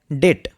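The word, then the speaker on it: debt: Next word রয়েছে ডেট। ডেট কথার অর্থ হচ্ছে ঋণ বা ধার। এখানে বি সাইলেন্ট।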